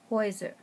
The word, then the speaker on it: Häuser: EU and AU with an umlaut for the plural houses is pronounced OI, Häuser.